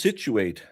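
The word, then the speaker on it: Scituate: So of course skituet is pronounced situ. situate because anyone who saw those spellings would say, "Oh, situate." It's pronounced situate like the situation.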